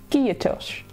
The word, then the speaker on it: Kiitos: Kiitos. Kiitos. It's like two syllables.